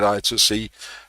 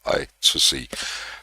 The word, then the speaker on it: I2C: Again pronunciation I call it I2C. Uh you can argue all you like. I'm not going to change to I square C. Uh I call it I TOC.